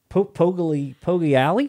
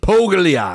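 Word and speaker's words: Poggiali: Pogliali? You said it right, man. Pogliali.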